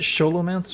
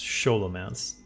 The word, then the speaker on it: Scholomance: say that is it scholomance or scholomance I've heard it pronounced both ways but uh in narrator voice it it's scholomance because it's ch sholo like cholo Hans sholo Hans grber